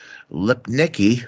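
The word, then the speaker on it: Lipnicki: say so so uh year we had Jonathan lip Nikki Jesus is did I pronounce that right you did he was um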